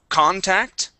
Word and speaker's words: contact: Let's go to contact. Contact. So stress at the very beginning, and it's an ah sound at the beginning. Contact. Just like that. And cot instead of coat, cot.